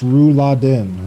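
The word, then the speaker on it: Rouladen: I think you missed it and it's pronounced Ru Laden. Ru Laden.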